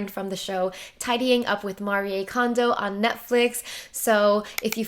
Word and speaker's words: Marie Kondo: I think that's the Japanese pronunciation. She introduces herself as Marie, and now that there's a Netflix show, all the Americans call her Marie Kondo, and it's just weird